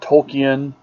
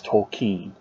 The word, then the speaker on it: Tolkien: It owes a great debt to Tolkien here, and that is the correct pronunciation. According to the man himself in a letter, it is not Tolkien, it's not Tolkien, it's Tolkien.